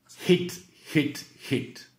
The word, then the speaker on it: hit: Hit. On prononce bien le H, hit, et le I court. Hit, parce que heat, c'est chauffer. Hit.